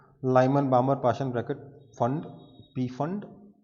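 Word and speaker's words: Pfund: अगर n is equal to 5 तक आ रहे हैं तो Lyman बामर Paschen bracket फंड P silent है, फंड सीरीज, और 6 के लिए हो जाएगा तो हमफ्री।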